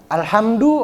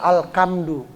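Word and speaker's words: الحمد: Alhamdu ada yang bacanya alkamdu.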